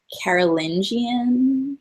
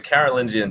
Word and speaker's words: Carolingian: When I read stuff about Charlemagne, I often see the word like Carolingian. Oh yes, Am I pronouncing that correctly? you are. So the Carolingian dynasty was actually started by his father, Pepin